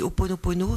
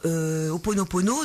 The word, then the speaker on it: Ho'oponopono: je pensais que développer un petit peu l'outil Ho'oponopono, c'était adéquat par rapport à Noël.